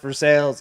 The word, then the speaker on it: Versailles: but that's the thing is to be fair, in Kentucky, it's pronounced Versailles, and that's how people get.